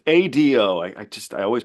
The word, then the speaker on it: Ado: have we heard of a performer named edu it's Ado I I just I